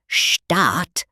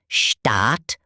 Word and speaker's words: Staat: A double vowel like A or a silent H often means it's long, like in Staat or Hün.